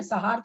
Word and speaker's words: संहार: तो उसमें भी कोई न वगैरह का उच्चारण, तो उसी तरह यहाँ पर संहार, बस वो थोड़ा सा न का आएगा, क्योंकि यहाँ पर है